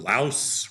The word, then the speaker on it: Laos: like a 25% tariff on Japan or 25% tariff on Laos rhymes with house.